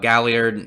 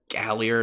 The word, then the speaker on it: Galliard: meanwhile we have a Galliard I don't remember if that's how you pronounce his name with pretty sure it's Galliard and hope it's gali ad 99% sure and there's an R in there by the way he